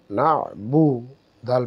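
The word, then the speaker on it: نَعْبُدُ: আমরা জানি আইন যখন আমরা উচ্চারণ করব হলকের মধ্যাংশ থেকে আইন উচ্চারণ হয়, তাই বিশেষ করে আমাদেরকে আইনটা উচ্চারণ করার আর একটা সহজ উপায় হচ্ছে যে আমরা কণ্ঠনালীকে চেপে উচ্চারণ করব। তো কণ্ঠনালীকে যখন আমরা চাপ দিয়ে উচ্চারণ করব তাহলে হবে না বুদু,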